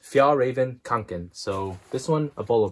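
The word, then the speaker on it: Fjällräven Kånken: I think it's pronounced Fjallraven Kanken.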